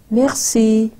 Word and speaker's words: Merci: Merci. Merci. Two syllables.